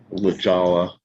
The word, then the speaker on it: La Jolla: La Jolla.